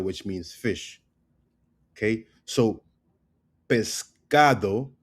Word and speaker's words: pescado: So, pescado becomes pescal. Pescal. So you see how we don't hear the ado it becomes pescal pescal right where are